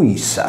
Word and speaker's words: ipsa: In ogni caso e in qualunque modo venga chiamato, ipsa latino pronunciato issa rappresenta l'articolo sardo sa.